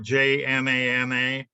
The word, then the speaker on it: Jnana: How do you pronounce it? The Yana, the what? Jnana.